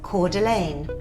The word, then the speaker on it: Coeur d'Alene: that sounds lovely doesn't it let's say that Coeur d'Alene so this is pronounced Coeur d'Alene this is from another newsbreak supporter thank you